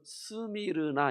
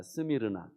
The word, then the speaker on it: 스미르나: 예수님께 칭찬을 들었습니다 자 서머나 말은요 우리 한국식 발음이고 원래로 스미르나 있니다 스미르나 근데 여기서 미라고 하는